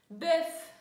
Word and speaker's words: bœuf: Bœuf. Сочетание OEU читаем как э.